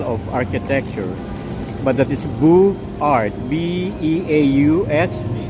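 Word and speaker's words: Beaux-Arts: I just cannot pronounce the style of architecture, but that is Beaux Art, B-E-A-U-X, Beaux Arts architecture.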